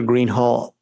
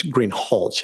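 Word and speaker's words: Greenhalgh: thank you your honor officer Greenhall I believe I'm mispronouncing your name it's green hch isn't it correct okay I apologize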